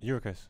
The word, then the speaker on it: Gyökeres: Eurocase. Yeah. Good. Eurocase. Good. I watched him at Coventry. He was good. Yeah. He was too good for that league. Soft G. Eurocase. Gyökeres, yeah.